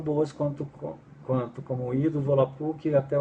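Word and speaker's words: Volapük: Então, por exemplo, a própria palavra volapuc, né? Volapuc, na pronúncia correta do volapic, eh, ela quer dizer fala mundial, né?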